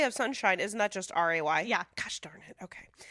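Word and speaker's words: Wray: I think they were trying to be a little tongue-in-cheek with it because it is, what is it? A homophone. Homophone? Yeah, homophone. For El Rey, R-E-Y.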